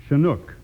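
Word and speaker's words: chinook: have even heard before it's shanuk that's c h i n o o k and pronounce shanuk hey that is a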